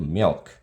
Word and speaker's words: milk: 근데 미국에서는 밀크, 영어에서는 밀크를 R 발음을 해줘야 되거든요. milk. 이렇게 발음을 한단 말입니다. 그러면 이게 멸크처럼 들려요.